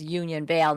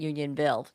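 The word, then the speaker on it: Union Vale: Sorry I I mis mispronounced it was Union Veil not union bill and and having to do with their library funds.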